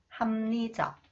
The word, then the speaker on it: 합리적: Okay, when 리을 comes after the final consonants 피읍, okay, 리을 is pronounced 니은, and 피읍 influenced by 니은, it is pronounced 미음. Okay. 왕심리, 왕심리, 취업률, 취업률, 합리적, 합리적.